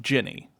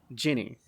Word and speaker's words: Ginny: the same same page uh uh it is pronounced Jenny Jenny yeah like as in the alcohol yeah like